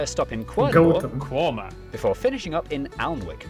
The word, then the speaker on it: Quernmore: Quorma, before finishing up in Alnwick.